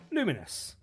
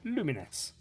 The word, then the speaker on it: Lumines: devs, it's certainly pronounced luminous, as in a bit like luminos, as in luminosity kind of thing, but luminous.